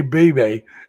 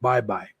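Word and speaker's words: Baybay: I want to say Baby because that's the way it's spelled, but it's pronounced Bye Bye.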